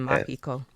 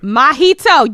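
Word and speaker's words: Mahito: It's like Mjito but with a a mjito. You drink mojitos, don't you?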